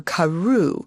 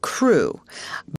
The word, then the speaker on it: Crewe: difference in the name Madame Pascal pronounced it as if it were Karu instead of crew but that might be merely a matter of pronunciation the circumstances were curiously